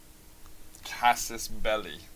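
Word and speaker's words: Casus Belli: have you have a Cassis Bellis on it CIS belly is like the way I is the way you're supposed to pronounce it actually so we actually have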